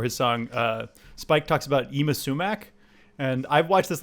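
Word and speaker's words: Yma Sumac: and listening to some Yima Sumac. She's really cool and good. She's on the soundtrack to Death Proof. And that's spelled YMA space SUMAC. That's how you spell Yima. Yima Sumac.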